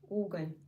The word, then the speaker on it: угол: Уголь.